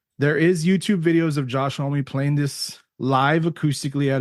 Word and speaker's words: Homme: You pronounce his name Josh Homme, right, Joseph?